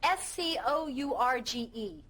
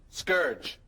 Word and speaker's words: scourge: How do you pronounce S-C-O-U-R-G-E? Scourge.